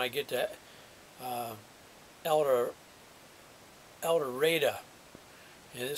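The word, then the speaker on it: El Dorado: another one when I get to uh Elder Elder and it spelled Eldorado was where the next town over but it's pronounced here eldera it's NE spelled Nevada County well now this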